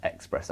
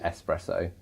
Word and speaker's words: espresso: heard that he caught you can't say it as expresso I think that's a common risk pronunciation it this way it's actually espresso guys and a lot